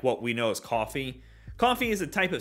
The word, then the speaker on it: Coffey: some words together there coffee is spelled a little different than what we know it as however this bottle is